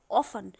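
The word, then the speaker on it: often: का यूज़ किया और अक्सर के लिए मैंने इंग्लिश में बोला ऑफन। वैसे आप ऑफ्टन भी कह सकते हैं। दोनों प्रोनाउंसिएशन करेक्ट हैं।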